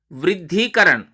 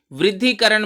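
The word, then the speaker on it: वृद्धीकरण: देखिए उच्चारण में फर्क है, शुद्धि और शुद्धिकरण, वृद्धिकरण। तो शुद्धि और वृद्धि दोनों में ह्रस्व ई है, वृद्धिकरण में और शुद्धिकरण में दीर्घ ई है।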